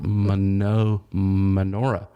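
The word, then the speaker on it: Mynoghra: forest that has been called menorah menorah yeah it's spelled m-y-n-o-g-h-r-a and she is a.k.a inaugura menagra yeah that could be manager menorah i think it's menorah okay and uh it's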